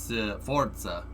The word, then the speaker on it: Forza: Pronounce the Z in Forza more like Forza.